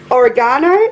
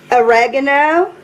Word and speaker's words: oregano: got going we need oregano if you're watching this in America I think you pronounce it a ragano anywh who Stone meal